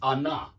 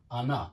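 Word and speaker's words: она: please remember that Anna the stress is on the a I want you from the beginning to be pronouncing this word correctly correctly it's Anna it's notor yeah it's ana ana an Frank an Ivan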